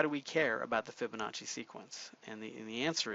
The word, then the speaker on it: Fibonacci: face tof face classes you can't just say Fibonacci you got to go with Fibonacci like you're ordering good good Italian pizza I guess U it's